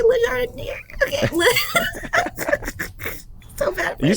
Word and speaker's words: Le Jardinier: I don't know how to say Le Jardinier.